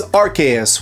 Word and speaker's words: Arceus: Like the localized versions of these games have busted their butts to let you know that it is RKS whether you like it or not.